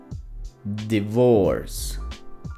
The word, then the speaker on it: divorce: La siguiente palabra, divorce, divorce, es corto el sonido porque el acento va en la otra sílaba, divorce. En esta palabra el sonido es busy, busy.